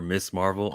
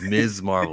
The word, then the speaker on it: Ms. Marvel: they actually call her miss marvel and i'm going why are they saying the name wrong it is ms marvel that's right there we